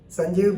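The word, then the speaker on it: Sanjib: meghalaya and Elijah chief justice but they are pronounced as sanjeeb s-a-n-j-i-b Sanjeev Banerjee and w d w dingdo d i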